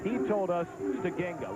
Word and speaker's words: Steigenga: He told us Stegenga, with the emphasis being on the second syllable. Correct. Everybody around here calls him Steigenga.